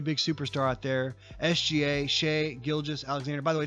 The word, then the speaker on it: Shai: shy he's embarrassed no no it's Shay Shay I've heard him say his own name on that skims commercial the underwear commercial that the NBA is cramming down our throats he say my name is Shay gilgas Alexander that's his name Shay not Shai Shay he put up